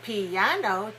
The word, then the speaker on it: piano: syllable you are right so piano has three syllables and we stress the second one but when you say